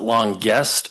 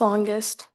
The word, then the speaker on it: Longest: Is it long guest or longest or is there any other pronunciation that I may be missing? Maybe when you come to the mic, you can just clarify that for us. I hate to mispronounce stuff. It's longest. Okay. Just like it looks.